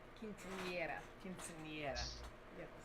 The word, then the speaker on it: quinceañera: I get that some cultures celebrate a woman or a girl becoming a woman, like a quinceañera. Quinceañera.